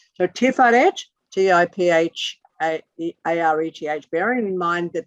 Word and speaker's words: Tiferet: About that, it's called Tiferet, T-I-P-H-A-R-E-T-H. P-H is, as in, fuck you.